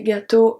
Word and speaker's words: gâteaux: So you see un gâteau, des gâteaux. Gâteau is pronounced exactly the same, but we add the X when it's plural.